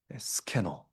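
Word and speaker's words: σκηνόω: 쉐키나 영광 스캐노 이게 발음상으로 유사합니다. 사실 이제 거하다라는 단어가 또 있거든요. 메노라는 단어가 있는데 다른 단어이 스캐너를 굳이 썼습니다. 어 분명히 의도가 있는 것이죠. 요한은 의도적으로 발음이 쉐키나와 비슷한 발음을 써서 구약 성막에 임했던 하나님의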